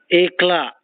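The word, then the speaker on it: éclat: Ekla, E-C-L-A-T, the T is silent.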